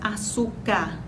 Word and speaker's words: açúcar: Normalmente a gente diz açúcar. O fonema re, a letra R, cai no final dessa palavra na pronúncia.